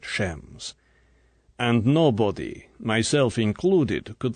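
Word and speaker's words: James: his voice was sarcastic shames Bond he pronounced at shems and nobody myself included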